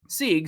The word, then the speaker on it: Sieg: about Hayden Sieg, and I heard from his mouth Sig, but the pronunciation guide says Sieg. So I guess we'll roll with that.